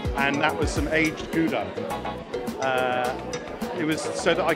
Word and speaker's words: Gouda: I think I mispronounced it, and all the Dutch viewers said it's pronounced Gouda.